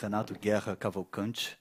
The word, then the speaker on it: Renato Guerra Cavalcante: My name is Renato Guerra Cavalcante. That's how you pronounce it in my language, which is Portuguese. You're right, it's totally different, but we pronounce it like that.